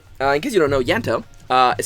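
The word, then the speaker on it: Ianto: In case you don't know, Yanto, is spelled I-A-N-T-O, is eating, Kitty's cat.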